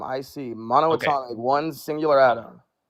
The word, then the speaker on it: monatomic: Monatomic.